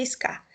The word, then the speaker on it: SCA: que é a scar a gente pronuncia skar mas se escreve sk que a special coffee association